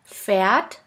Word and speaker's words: Pferd: Now let's continue with the next letter combination, PF, which sounds like a puff sound. Here we have the example of the word Pferd, which means horse.